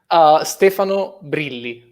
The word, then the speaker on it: Stefano Brilli: Wait a second, how do you pronounce your name properly? Stefano Brilli.